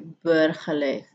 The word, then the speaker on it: burgerlijk: Kemudian kita membacanya ini burgerlijk. Seperti burger gitu ya, warga negara.